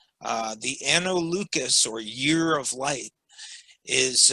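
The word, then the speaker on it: Anno Lucis: freemasonry than the analucus the lucas hard c because it's latin uh the anno lucas or year of light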